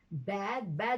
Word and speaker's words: bade: And the past tense is yesterday you bad goodbye, not bade goodbye. It's bad.